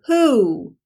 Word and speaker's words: who: today is the word who who is that who sounds like it starts with an H boys and girls but it's not an H spell the word who